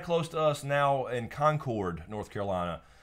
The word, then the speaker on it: Concord: to us now in Concord, North Carolina. Not Concord. Not Concord. It's not Concord. Spelled the same. Yes, but I know people on the West Coast like to say Concord. I flew out to Concord,